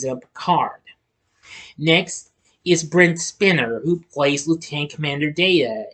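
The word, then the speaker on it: Spiner: accounts that's why I got a mispronouncing spider it's spinner spinner also played his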